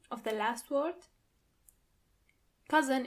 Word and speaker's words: Cousin: Cousin in plural, you have to add a French pronunciation to it.